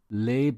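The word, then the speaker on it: lebe: I live in Berlin you need to pronounce LA with an a sound like glaswegian lay I lay on the ground lay if you say laor rhyming with Lee then it could be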